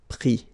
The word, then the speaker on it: pris: Mettre, mi, and then E-N-D-R-E, I-S, but then same thing here, the sound I. Prendre, pris. Okay, so this is normally the difficulty of the passé composé, to remember the participe passé form.